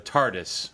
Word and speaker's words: TARDIS: No, I know because no, he had a dress on that was the TARDIS, which was, you know, is that how you say it? The TARDIS, Yeah, the TARDIS, the police box, you know.